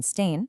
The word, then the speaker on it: Stain: This is exactly where the book from ideas to impact by Johan Stain, that's pronounced S T A I N, comes in and offers this groundbreaking shift in perspective.